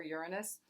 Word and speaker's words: Uranus: means it's our Uranus depending on how you pronounce it I've heard both lots of times Uranus and your your anus so whatever works for you I kind of actually prefer Uranus but shocks surprises breakthroughs